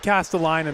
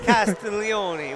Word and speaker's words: Castiglione: You said Castellani though the first time. Castiglione. We just had the mother stop by and make sure they gave us a tutorial on the Italian pronunciation of Castiglione.